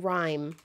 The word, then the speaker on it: Rime: Oh, Rime is spelled R-I-M-E. Weirdly.